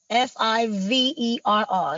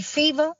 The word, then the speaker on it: Fiverr: I know it's spelled Fiverr. So it could be Fever. Fiverr. Fiverr? Yeah. All right. I was close. Yeah, it's spelled weird looking, so it throw you off.